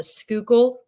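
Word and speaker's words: Schuylkill: depending upon where you're from and how you pronounce itely sure definely especially here so there's a river here in Philadelphia called the skookul river and if you're not from here it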